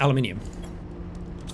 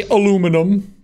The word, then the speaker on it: aluminium: okay titanium silicone and aluminium I know a lot of you just say aluminum and that's how it's spelled but not here we don't say it that way whoa this is big